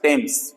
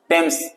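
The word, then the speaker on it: Thames: नदी का नाम है टेम्स ठीक है स्पेलिंग में टी एच रहता है ध्यान रखिएगा टेम्स सो टेम्स नदी के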